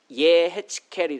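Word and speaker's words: יחזקאל: 이 에스겔을 히브리어 발음 그대로 옮기면 예헤츠켈이 됩니다.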